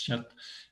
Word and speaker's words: kyat: Le kyat, on prononce kyat, qui est la monnaie birmane, va perdre en quelques semaines 25% de sa valeur.